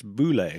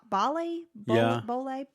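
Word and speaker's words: Bohle: say her last name maybe it's boule it's b-o-h-l-e okay so would you say bali i'll say bali so phyllis bali was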